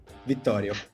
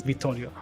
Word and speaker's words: Vittorio: you pronounce your name do you want me to pronounce it with like the italian pronunciation because that's funny let's go victorio yeah cool yeah yeah